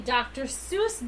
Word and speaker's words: Seuss: According to I don't even know Friends and Family, the name rhymes with voice, not deuce.